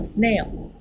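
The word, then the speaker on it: Snell: 好，这个光的折射定律是荷兰人斯奈尔提出来的。Snail 是 snail，不是蜗牛。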